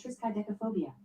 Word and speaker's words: triskaidekaphobia: Oh, so it's triskaidekaphobia. Yeah, I think that's the correct pronunciation.